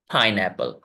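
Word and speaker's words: pineapple: sound है वेबल sound तो यहां पर तीन साउंड है फ आय एक हो गया ए एल पाइनएप्पल तीन सिलेबल्स वाला यह वर्ड है पाइन एपल गुड ठीक है अब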